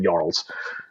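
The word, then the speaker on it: jarl: giant tribes or clans they call them yarls and that's not with a j but it's not pronounced with the j you know those of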